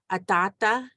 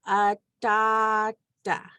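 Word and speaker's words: ataata: So anytime you see like a double A, double I, or W together, just remember it's a longer ah sound. So one good example is like atata or grandpa. Atata begins with one A, T, two A's, T, A. So atata.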